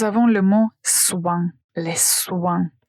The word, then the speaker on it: soin: Donc, tout d'abord, nous avons le mot soin, les soins. Faites attention à la prononciation, nous avons ce son comme moi, toi. Ici, nous avons aussi la la partie nasale, ouin, soin.